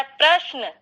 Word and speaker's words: प्रश्न: प्रश्न जबकि है प्रश्न, तो जो जो बीच में जो शकार है उसका उच्चारण लंबा और जो नकार है उसका उच्चारण छोटा, जबकि होना विपरीत चाहिए। शकार क्योंकि आधा है इसलिए उसका उच्चारण कम समय में होना चाहिए और नकार क्योंकि पूरा है उसका उच्चारण पूरा समय देना चाहिए।